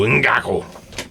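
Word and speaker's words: Ngakoue: You got to go Ngaku. All right, tackles.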